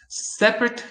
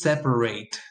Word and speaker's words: separate: graduated aided last year separate versus separate so an example is put these two things on a separate container separate container separate verses you need to separate the containers estimate estimate duplicate duplicate